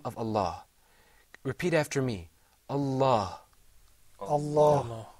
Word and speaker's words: Allah: lamb in that word this lamb is a very interesting lamb sometimes it's pronounced with the full mouth sometimes not so the question that